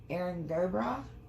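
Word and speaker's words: Erin go bragh: Erin Gobra. That's how you pronounce it.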